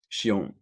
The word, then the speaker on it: Shion: my stay is it is your name pronounced Shion yeah she own well yeah you know